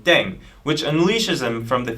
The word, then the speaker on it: Ddaeng: playing with language now pronunciation of deng is similar to thang which is the slang of thing in english last but not least